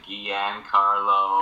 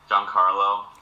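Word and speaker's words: Giancarlo: you say your name John Carlo oh that's John Carlo in Spanish with the G though so not not like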